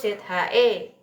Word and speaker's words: zhe: Terus ZHE bukan Z bacanya tapi ce.